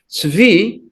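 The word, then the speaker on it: צבי: Tzvi is the typical word for a gazelle, or sometimes also used for. But the first letter is nowadays often by many people pronounced as a ts.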